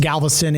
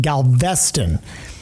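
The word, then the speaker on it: Galveston: Not pronounced Galveastston, it's pronounced Galvestston.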